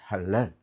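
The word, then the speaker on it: הלל: sound H சவுண்ட்ல வரணும் guttural sound ஹா தொண்டையில இருந்து வரணும் ஹ அப்படி ஹலல் ஹலல் லாமேடு அடுத்து ஒரு லாமேடு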